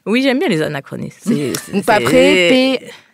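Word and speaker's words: PAPRE: Paperé, P-A-P-R-E, mais ça se prononce paperé.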